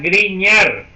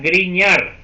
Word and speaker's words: Grignard: C efectivo de Grignard. Ok, eso se pronuncia Grignard. Eso es un nombre en francés y la GN se pronuncia como ñ en español. Entonces sería Grignard.